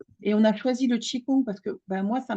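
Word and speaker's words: qigong: vraiment ce qu'est le chikong déjà chi ça s'écrit QI c'est le souffle l'énergie et Kong qui s'écrit Gong c'est le mouvement la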